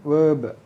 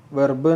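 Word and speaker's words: verb: Then വേർബ്, വെർബ് നമ്മൾ പറയും, പക്ഷേ ആറ് വളരെ സൈലൻ്റ് ആണ്. നമ്മൾ ചില കാര്യങ്ങൾ അങ്ങനെ പഠിക്കേണ്ടതുണ്ട്, ഉച്ചാരണത്തിൽ പഠിക്കണം. വെർബ് എന്ന് പറയാം, അല്ലെങ്കിൽ നമുക്ക് വേർബ്, ആറ് സൈലൻ്റായിട്ട് ഉച്ചരിക്കാം.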